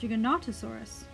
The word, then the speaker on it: Giganotosaurus: the video spotlight on Giganotosaurus sometimes pronounced you cannot asaurus depending on where you look online or who you ask a generally more perminov